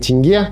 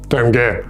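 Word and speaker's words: tenge: And remember: the currency is pronounced “ten-GEH,” not “TEN-gay.”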